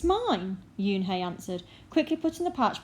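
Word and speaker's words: Unhei: hey said yoon hey ooh nay the girl asked scrunching up her face some kids chanted no no yoon hey corrected it's spelled u-n-h-e-i it's pronounced yoon hey oh it's you hey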